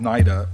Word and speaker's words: NIDA: with the with nid am I pronouncing as naida Nita what what naida I want to start with naida um they've maintained a